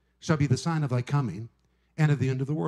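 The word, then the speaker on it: τί: We want to know specifically exactly when these things will come to pass.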